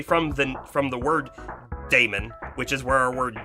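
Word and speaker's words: daemon: script kind of thing that's called a Damon D AE m o n a lot of people call it a demon and that's also fine too um the reason why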